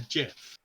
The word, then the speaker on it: GIF: The actual person who created the file format basically came out and said it's actually pronounced GIF.